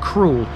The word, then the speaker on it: Crowle: get into this one kroll is sometimes pronounced cruel likely a hangover from the time of the doomsday book where it's listed as such the doomsday book entry